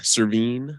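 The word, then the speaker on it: Servheen: where you're from thank you so I'm cerveen that's spelled s-e-r-v-h-e-e-n I'm a senator in the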